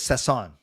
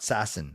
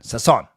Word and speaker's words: Sasson: Okay, so it is Sasson. Thank you. Not Sassin. Sasson.